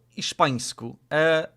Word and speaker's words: hiszpańsku: Oh, you pronounce the H.